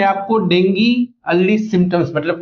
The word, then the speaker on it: Dengue: देखिए, जो शब्द है इसका सही उच्चारण डेंगी होता है, लेकिन हम आमतौर पर इसे डेंगू बोलते हैं।